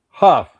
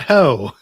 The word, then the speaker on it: Huff: Huff, pronounced Huff. Yes, not ho. Not ho. Huff.